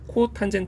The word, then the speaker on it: 코탄젠트: 역수는 COT 세라고 써서 얘를 앞으로 코탄젠트 발음을 할 거야 그러니까음 코탄젠트 이제